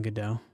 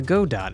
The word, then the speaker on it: Godot: Just before this was developing a game in the Godot engine. Or the Godot engine, if you are so inclined to mispronounce things.